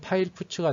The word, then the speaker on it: fputs: 발음은 파일 put가 되고요.